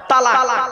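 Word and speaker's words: طلاق: আমি এখানে বসে আছি চিন্তা নেই অনেকে ভয়ে উচ্চারণ যদি বউ চলে যায় কি বলে তালাক বাবা শব্দটা তালাক নয় শুনে নিন আজকে তালাক শব্দটা নয়।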